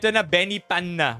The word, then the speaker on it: Benipana: Benipana with a P. Okay. Not an F.